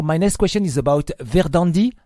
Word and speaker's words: Verðandi: So, my next question is about Verðandi. It's Yes. Verðandi. The pronunciation is correct.